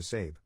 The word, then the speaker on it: Sabe: To cut right to the chase, I legally changed my name to Sabe, pronounced like Abe, but with an S.